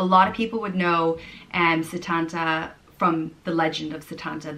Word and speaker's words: Setanta: The next name is Setanta, and it's an old mythical name meaning son of Sultan, and it's pronounced Setanta. Setanta.